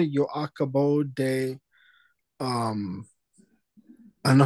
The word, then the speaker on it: acabo: So the other thing, Manish, say acabo. Acabo. So hear the difference between acabo and acabo. Acabo. Acabo. Acabo. Okay, acabo. In Spanish, the second to the last syllable, the penultimate syllable, is normally emphasized.